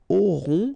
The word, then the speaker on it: auront: Okay, then ils auront, final T not pronounced, O-N together, on, auront, okay, and then the link between the two, ils auront, elles auront.